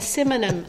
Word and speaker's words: synonym: A synonym. I don't even know. I'm going to mess it up. How do you say it? Synonym. Synonym. Yeah, so it ends with nim.